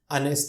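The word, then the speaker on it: honest: ही इज, फिर blank, ऑनेस्ट man. Friends, you know very well, इसमें एच is silent here और मैन की गिनती हो सकती है, सिंगुलर है और इसका उच्चारण वॉवेल से हो रहा है, अ से हो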